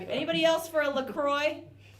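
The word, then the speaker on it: LaCroix: my friends were like don't you mean a lacroy and I was like haha I get it I live in the States now that's how people from America often pronounce French things and they were like no it's a company I think that's based in Michigan Minnesota and it is it's called lacroy yeah that's the actual name oops we screwed it up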